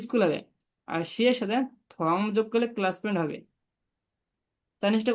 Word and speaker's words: 同: থং টি ও এন জি হবে থং, ও এন জি উচ্চারণ হবে অং থং। থং শিয়ে, দুইটা সেকেন্ড 同 বলেন তো। 同 থং শিয়ে 同同学 থং, মুখটা একটু গোল করে বলবেন, থং শিয়ে।